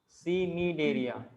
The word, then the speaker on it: Cnidaria: सिनीडेरिया बोलना है, ठीक है ना। क्या बोलना है? क्या बोलना? सिनीडेरिया। Nidaria. अरे इतना तमाशा मारो तुम लोगों ना, जो बोलना वो बोलो ना। सिनीडेरिया, क्योंकि सी से लिखा है ना, इसे ध्यान रखना आपको।